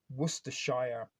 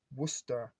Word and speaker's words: Worcestershire: America they call that Worcestershire and Americans think they're all very smart and clever when they can say worshire Source but if you're from England you know it's pronounced Worcester Source um so there